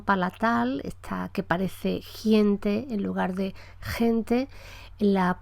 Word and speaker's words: gente: el castellano de Chile, la articulación de esta velar ante una vocal que sea palatal, o sea, ante vocal E o ante vocal I, es muy anterior, se pronuncia en la parte anterior de la boca, de manera que al hablante de otra zona le parece escuchar gente en lugar de gente. Gente como si hubiera una I entre el sonido consonántico y la E.